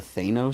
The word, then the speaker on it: Thanos: Yeah, the only thing they've done really branded was the Thanos stuff, right? Or Thanos? Thanos. It's pronounced Sorry, Thanos.